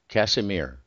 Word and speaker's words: Kasimir: And just for clarity's sake, it's Kasimir, Kasimir, because the pronunciation can be funny.